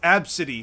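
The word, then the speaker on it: Abcde: I'm like, bro, A, B, C, D, E pronounced absidy.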